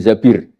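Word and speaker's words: الزَّبِير: Kemudian saya nikah sama Abdurrahman bin Zabir. Di hadis ini bukan bacanya bukan Zubair, tapi Zabir.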